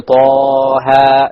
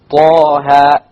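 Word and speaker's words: طه: You don't make it longer, Taha. Neither do you make it shorter, Taha. You actually make it Taha, exactly. 2 harakas, exactly.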